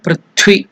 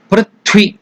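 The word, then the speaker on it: पृथ्वी: mother earth is called పృథ్వి ఇట్స్ not first త ఇట్ ఇస్ మహాప్రాణ థ సో the plus వ plus ఇ థ వ ఇ త్వి పృథ్వి ఓం పృథ్వి త్వయా ఓం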